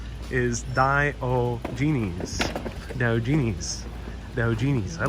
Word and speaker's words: Diogenes: Ava says it's Diogenes. Accent is on the second syllable. Diogenes.